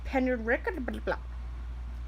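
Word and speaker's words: Penrhiwceiber: Names such as the Nantiglo and Penrickerblah.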